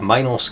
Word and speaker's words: Minos: And I believe Minos can be pronounced Minos or Minos, and Minotaur can be pronounced Minotaur or Minotaur. I say can be because I choose for both.